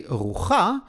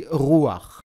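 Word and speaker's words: רוח: But we don't say rucha, we say ruach, just like with tapuach. Chet with patach at the end of the word create the sound of ach.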